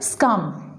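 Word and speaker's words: succumb: friends in this board B letter is silent you will not pronounce B letter it is scum its meaning is to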